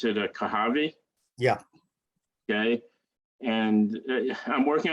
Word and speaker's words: Kohavi: You pronounce it Kohavi, Yeah.